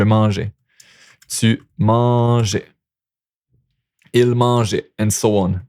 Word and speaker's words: mangeais: Okay, and it's still pronounced the same, je mangeais.